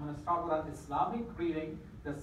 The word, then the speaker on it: Islam: Talking about Islam, and it's pronounced Islam with a soft S. If you say Islam, that's okay too, but now after this, you're